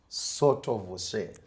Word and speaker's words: Sottovoce: I'm still struggling with pronouncing your name, but I'll try. Please. Sottovoce.